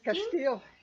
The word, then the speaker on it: Castile: Castile, yes. Thank you. I wanted to make sure I was pronouncing it right.